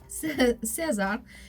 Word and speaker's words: César: Am I pronouncing it César, correctly? right. César, including Best Picture, Best Director, and Best Actor for Brody.